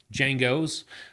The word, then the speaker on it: Django: I'm just going to say Django because the D is silent. That's how us Americans would say it. Django.